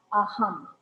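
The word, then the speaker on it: अहम्: And so there's no A on the end. So we use that halanta. Okay? And so if we go there's no long. So this is your very first vowel. And the line starts here, not over top. And then your ha. And then your ma. And then we take the A off.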